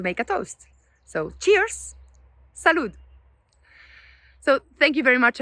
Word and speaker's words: salud: And same for every word in Spanish that finish by a D. For example, salud.